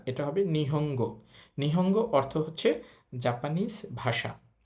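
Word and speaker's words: 日本語: এখানে আছে গো তো ন এর পর গা লাইনের বর্ণ আছে সুতরাং ন এর উচ্চারণ হবে অং তাহলে এটা নিহন হবে না এটা হবে নিহঙ্গ নিহঙ্গ অর্থ হচ্ছে জাপানিজ ভাষা।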